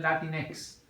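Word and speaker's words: Latinx: usa la x esa incluso la pronuncian dicen latinex sabes en lugar de lugar de latinos dicen latinex con x Sí hay un filósofo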